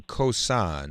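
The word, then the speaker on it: Khoisan: ladies and gentlemen researchers have concluded that the cosine who now live in southern am i pronouncing that correctly elizabeth oh yes my son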